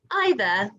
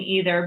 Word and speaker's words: either: thought i was wrong either either i grew up saying either but now i say it either way evolution evolution figure figure